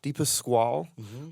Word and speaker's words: Dipasquale: Dipasquale.